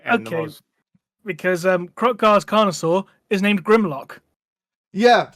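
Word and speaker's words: Kroq-Gar: The next great important Lizardmen we have is don't know if I can pronounce it. Krogar? Is that it? Krotgar, yeah. Krogar.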